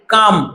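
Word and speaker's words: calm: so deep এত গভীরভাবে এটা ক্লাম নয় এটা হবে কাম ঠিক আছে এল এর উচ্চারণ এখানে হবে না কাম সডি আমি কখনো দেখিনি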